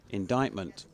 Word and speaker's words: indictment: PPS just for me indictment in inverted commas has a silent c I.E pronounced indictment which if that's referring